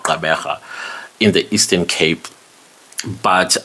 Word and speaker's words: Gqeberha: So I hear some people kind of like it when I say this word Gqeberha because it has a click sound.